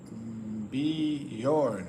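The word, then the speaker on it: Björn: It's pronounced like Bjorn.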